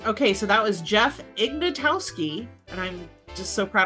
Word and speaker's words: Ignatowski: Hey, okay, so that was Jeff Ignatowski, and I'm just so proud of myself for pronouncing his name correctly.